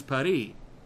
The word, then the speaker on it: Paris: where it says Paris they specify that you have to use the French pronunciation which is py this one's so bad